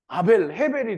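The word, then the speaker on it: הבל: 그러니까 결국은 모든 것이 헤벨이 된 거예요. 이 영어로는 이 아벨을 헤벨이라고 하더라고요. 헤벨. 그래서 어쨌든 발음이 히브리 발음이 헤벨인 겁니다.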